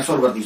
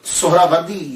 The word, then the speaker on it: سہروردی: بڑی توجہ دینی ہے۔ ہم لوگ اکثر بول دیتے ہیں سہروردی سہروردی، یہ اکثر ہم بولتے رہتے ہیں۔ میں غلط نہیں کہتا، لیکن ذہن میں یہ تو ہونا چاہیے نا کہ اصل پروننسیشن، اصل تلفظ کیا ہے۔ اصل میں یہ سہراوردی یا تو نسبتی ہے، تو لفظ جو ہے وہ سہراورد ہے، سہراورد، سین کے اوپر پیش، پہلی ہا، یہ ہا